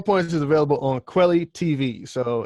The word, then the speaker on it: Kweli: So, ladies and gentlemen, 4 Points is available on Quelly TV. So it's spelled KWELI.TV.